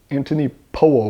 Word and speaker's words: Anthony Powell: While you're doing these movements, I recommend a dance to the music of time by Anthony Poell, spelled like Anthony Powell, but weirdly pronounced Anthony Po by the British.